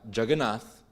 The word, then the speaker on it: Jagannath: they're so big, and that Jagannath would turn into Juggernaut because the British people at the time couldn't actually pronounce it.